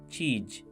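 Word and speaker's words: चीज़: Pay attention to the last sound of the word cheese, which Manoj Jha pronounces as cheej and baqi as baki. Compare his Hindi pronunciation of cheese with Kishore Kumar's Urdu pronunciation.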